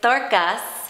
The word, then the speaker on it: Dorkas: It's Dorkas. How do you spell that?